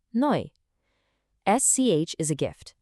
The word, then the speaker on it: neu: The combination EU makes an oi sound, so new is neu.